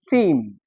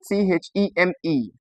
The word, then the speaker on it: theme: We find the long e sound also in some words that possess letter e. Letter e. Yes, it occurs in letter e. So we have examples like a word called seen. This we have a word called theme.